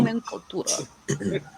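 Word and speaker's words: Nomenklatura: So Nomenclatura. Sounds like nomenclature.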